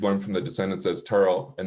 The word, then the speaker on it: Terrell: of married church turtle and we'll note the pronunciation as we've learned from the descendants as terrell and not terrell as as many of us have come to